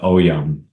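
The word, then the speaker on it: Ogham: is a an ancient Gaelic uh dialect called OAM uh is how you pronounce it.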